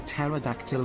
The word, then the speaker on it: pterodactyl: Why can't you hear a pterodactyl going to the bathroom? Because the P is silent.